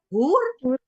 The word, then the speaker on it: hoer: Tetapi HOER, hur itu cewek nakal, cewek bayaran.